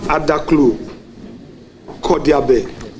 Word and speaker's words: Adaklu Kodiabe: So Kwame, hometown, you have Adaklu, Kodiabe. Correct me if the pronunciation.